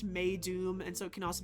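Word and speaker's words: Meidum: And I could not find uh where this name comes from, but it can be uh it's pronounced May Doom.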